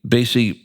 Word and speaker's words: Baese: That is uh uh Laura Dan Grey Basy. And you know, I was going to call you Count Basy because you told me to sit there.